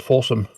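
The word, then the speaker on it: Fawesome: It's streaming on something called Apparently's a streaming service called Forsome. It's spelled F Awome. Like awesome. But with an F at the start.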